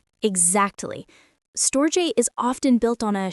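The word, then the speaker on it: storge: The Greeks called it stoj pronounced stoj.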